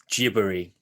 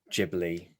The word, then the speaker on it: Ghibli: However, because in Japanese, the soft G is not necessarily a word that a sound they use in their phonology. So Ghibli would be how they pronounce that word, and so it became Ghibli from that.